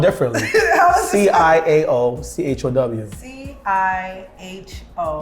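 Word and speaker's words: Ciao: C-I-A-O, C-H-O-W. C-I-H-O. No, C-I-A-O, like Chow.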